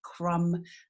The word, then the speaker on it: crumb: Doesn't really represent anything else except that sound in words, unless, of course, it's being that silent letter at the end of words like crumb and thumb and so on.